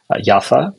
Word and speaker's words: Jaffa: family in 1948 from Jaffa yafa you can also pronounce it that way and this is